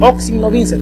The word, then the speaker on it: in hoc signo vinces: una frase en latín que más o menos más o menos se pronuncia en signo vinces in hoc signo vinces perdón que significa en